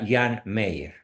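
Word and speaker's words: Jean Meyer: muy asertivo muy valeroso se escribe hean Mayer con y se pronuncia Jan Meyer este señor escribió eh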